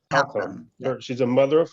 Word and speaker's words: Halcomb: Is that pronounced correct? Halcomb.